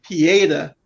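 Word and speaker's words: Pietà: the whole comic book thing and i was pronouncing wrong every other week but pieda is that right this time yeah it's a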